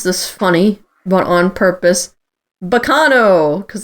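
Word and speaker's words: Baccano: funny but on purpose bacano because that's how you would actually say that word in italian correct um yep and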